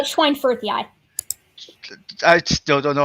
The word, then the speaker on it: schweinfurthii: Yeah, it's Schweinfurthii. I still don't know how you pronounced it, but moving on.